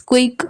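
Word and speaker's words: coup: right right या फिर कु इसमें पी साइलेंट है इसे बस के डबल ओ कु प्रोनाउंस करेंगे या फिर रिवॉल्ट या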